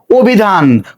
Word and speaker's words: অভিধান: অভিধান খুবই সহজ একটা উচ্চারণ, তাহলে শব্দের শুরুতে অ আছে, অ এর পরে রস্যইকার আছে, তো নিয়ম অনুসারে অটা ও হয়ে যাবে ও, তারপরে ভি, ধয় আকার, নয়ের সাথে কোনো কার চিহ্ন নেই, এই জন্য একটা হস চিহ্ন ব্যবহৃত হবে।